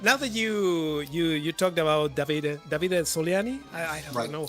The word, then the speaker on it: Davide Soliani: Grant, now that you talked about Davide Soliani, I don't know how to pronounce it, but no, that's right, Davide.